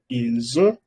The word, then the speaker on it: ils ont: No puedo decir ils ont, elles ont, se pronuncia ils ont, elles ont.